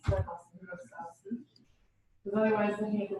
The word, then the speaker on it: Wlostowski: Because it starts with W, and he says you don't pronounce that, you pronounce the L, and it's like Wlostowski, so that's Wlostowski.